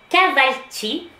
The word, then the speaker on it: Kahvaltı: Le petit déjeuner turc, qu'on prononce, je suis désolée s'il y a des Turcs, si je prononce mal, ça se prononce Kahvaltı.